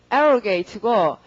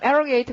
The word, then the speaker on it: arrogate: 강세가 앞이고요. 발음은 arrogate고, 자, 동그란 arrogate 강세 살려 잘 읽고, 그다음 명사가 어떻게 된다?